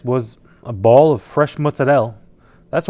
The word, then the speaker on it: mozzarella: What I used to prepare this was a ball of fresh mozzarelle. That's right. That's how you pronounce it. Mozzarelle. If my grandma heard me saying mozzarella like a mook, I'd get the wooden spoon.